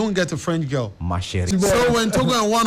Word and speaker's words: Ma Chérie: Yeah, no, you didn't pronounce it. What's it called? Ma Chérie. Ma Chérie. Yeah. Yeah. It's just French, you know.